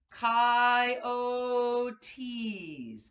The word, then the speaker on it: coyotes: reading from the letter pronounced chi o tees the coyotes looked weird